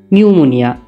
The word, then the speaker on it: pneumonia: নিউমোনিয়া। আমরা জানি যে নিউমোনিয়াতে পির উচ্চারণ না থাকলেও এর প্রথমে একটা পি হয়, সুতরাং কারেক্ট স্পেলিং হবে PNEUMONIA।